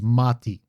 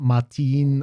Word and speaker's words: mati: front of it and it becomes mati. So, it's not matin or anything like that. It's just mati.